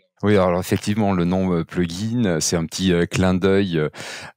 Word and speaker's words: Plug Inn: mobile, iOS et Android, une application qui s'appelle Plugin. Donc ça s'écrit P-L-U-G et plus loin I-2-N, ce qui fait une espèce d'évocation un petit peu au fait de s'héberger.